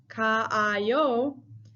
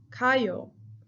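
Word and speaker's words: 가요: But because it would be pronounced kaayo, then we don't have any like necessity to add the extra a because we are already saying it. So we actually just say kayo for ease of pronunciation.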